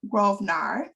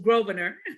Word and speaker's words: Grosvenor: So our speaker for the evening is Miss Grosvenor. Did I say it correctly? Almost Grosvenor. Yes. Grosvenor, okay. Yeah. I got it now, right?